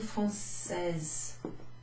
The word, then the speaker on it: française: So if it's a lady, ideally you'd want to say, êtes-vous française? Êtes-vous française? But if you forget that you have to pronounce the E at the end, I'm sure they're not